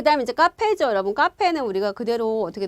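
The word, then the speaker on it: カフェ: 자, 그 다음에 이제 카페죠, 여러분. 카페는 우리가 그대로 어떻게 들어가요? 카에다가 후에다가 에 들어서 카페 이렇게 발음이 되는 거죠.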